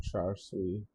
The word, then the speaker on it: char: clay pot, while plum char sweet would be UI. I don't know how to pronounce that. Buns glisten with amber. Char seal? Pronunciation. There's no R sound for other people. So it's cha.